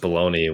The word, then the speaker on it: bologna: remember how to spell balone is I say bologna yeah yeah yeah yeah I don't understand how it's SP I don't know how the pronunciation baloney when there's no E people's